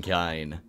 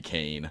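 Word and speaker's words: Kain: the kinds the kinds you guys saying kine really bothers me it's very clearly kane unless it's not and i've been saying it wrong this whole time oh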